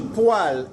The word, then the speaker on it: poêle: Et poêle, c'est quoi?